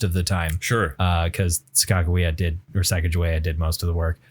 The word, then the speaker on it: Sacagawea: That's one of those, it's like Skakawea, right? Like some people are like, you know, it's supposed to be Sacagawea.